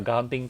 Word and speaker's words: Kanting: Oh Astuti ya benar Kanting Township betul. Itu bacanya kanting ya kanting.